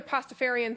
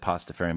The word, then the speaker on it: Pastafarian: I became a Pastafarian 3 years ago. Would you spell that? Sure. It is P-A-S-T-A-F-A-R. Literally like pasta with like Farian pasta.